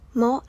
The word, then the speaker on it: も: ก่อน หน้า ความ หมาย โมะ อ่าน ว่า โมะ แปล ว่า ก็ หรือ